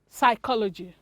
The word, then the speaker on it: psychology: as psalm it's sam psychology some cupboard and psychology you want to change some cupboard psychology letter p is silent in this words we have silence letter